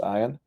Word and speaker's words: Ian: Yeah, for those wondering, the name Ian is typically pronounced Ian, but in the case of the venerable Ian Wanstein, it's certainly pronounced Ian.